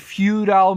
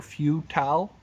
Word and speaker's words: futile: But here he says, I will never repeat the failures and futile mistakes, or futile, depends on your pronunciation, futile mistakes of the past, now that I have these scrolls to guide me.